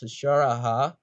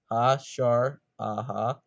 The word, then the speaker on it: Hasara: hasara 14 out also my name is pronounced hashar aha ha sure aha but you can call